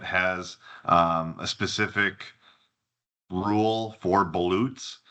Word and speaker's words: balut: So Wisconsin is currently the only state in the country that has a specific rule for ballots. Balut is how you say it.